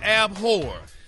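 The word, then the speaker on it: abhor: all right well Ricky this week's word is abore it's pronounced AB now it's an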